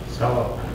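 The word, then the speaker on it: ثواب: Tha. Wa. How many syllables? Two. I'm breaking here, right? Why? Because consonant vowel is what? Consonant vowel is what? Syllable. Now this wow did not sound as a long vowel, because I will explain to you the conditions for it to sound ooh. So I don't say tha ooh, it's thawab.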